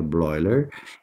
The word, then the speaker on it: Bleuler: A palavra autismo foi empregada pelo psiquiatra suíço Eugene Bleuler, lê Bleuler, mas pronuncia Bleuler, em 1912.